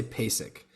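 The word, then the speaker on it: PASIC: Jojo mayor at uh I think they pronounced it pie sick but I've heard people say basic but that like percussion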